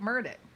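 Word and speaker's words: Murdaugh: So, I would suspect the man knows how to say his own name. Wouldn't you? I I think he knows how to say his own name. He his name is Alec Murdock.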